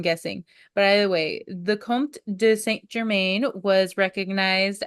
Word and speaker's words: comte: you say it, but it's Count, but like Comte, like Comte, French. Oh. I am not a Frenchman, nor am I a French woman, so I'm guessing. But either way, the Comte de Saint Germain was